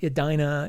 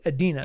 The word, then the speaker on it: Edena: doing the world of Adena by mbius and that's spelled Ed n uh not Ed i n not Adina it's Adena think about you know the Garden of Eden with an a after it um and I apologize